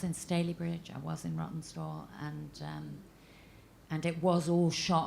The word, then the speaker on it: Rawtenstall: Yeah, and Rawtenstall. Have I pronounced that right? Rawtenstall?